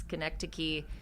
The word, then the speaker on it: Schenectady: It's Schenectady, New York.